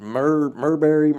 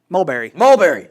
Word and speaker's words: Mulberry: I know I'm going to mispronounce. Is it Murberry something? Mulberry.